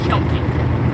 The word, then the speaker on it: Celtic: I say Celtic, y'all. It may be Kelty, you know. So, either way, it's spelled the same. It is pronounced different.